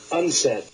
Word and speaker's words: UNCED: in rio de janeiro the acronym unced stands for the united nations committee for environment and development it is pronounced unsaid maurice strong has suggested